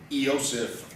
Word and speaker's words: Iosif: Sometimes you'll also see this spelled with just an F, Yosef, or even with an I, the Russians say Iosif.